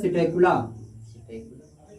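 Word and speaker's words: Psittacula: तोता का होता है सिटेकुला कौवा का होता है मुर्गी सिटेकुला इसके स्पेलिंग लोग साइलेंट होगा शुतुरमुर्ग होता है स्ट्रुथियो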